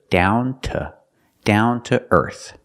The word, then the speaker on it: down to earth: The to is pronounced t because it's not stressed. So together, down to earth.